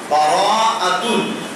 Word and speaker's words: বারাআতুন: আর বরাত শব্দটা যদিও আমরা আমাদের ভাষায় এইভাবে উচ্চারণ করি, কিন্তু উচ্চারণটা আসলে সঠিক হয় না। উচ্চারণ হবে বারাআতুন।